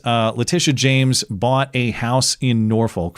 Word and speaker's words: Letitia James: Well, first Comey, and then now, yes, it is New York Attorney General Letitia James. And yes, that is how you pronounce her name.